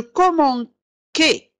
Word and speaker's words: commençais: Alors commencer لو أحذف هذا العلامة الصغيرة من تحت C سأنطقها ك. إذا قلت je commençais إلى حذفت هذه سأقول je commençais. لا، لكي أنطق je commençais يجب أن أضع سيدي تحت C.